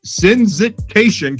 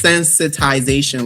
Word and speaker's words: sensitization: So you won you won the UN ODC competition for sensit sensit sensitation campaign. Wait, sensitization. It's sensitization.